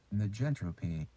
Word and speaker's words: negentropy: - "Negentropy".